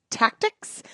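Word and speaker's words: Tactix: I will say he also worked with Tactics, which is spelled t a c t i x, and I will say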